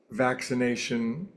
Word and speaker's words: vaccination: It's one of those words that has two C's in a row, which is always pronounced as an X. Vaccination, accident, occidental, flaccid.